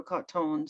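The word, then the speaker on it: Cottone: a man named pedro cotton c-o-t-t-o-n-e i think he would pronounce it and he just turns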